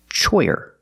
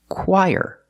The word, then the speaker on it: choir: This word is not pronounced choyer. It's pronounced choir. Very different than how it looks. So the ch makes the c- sound like the letter k.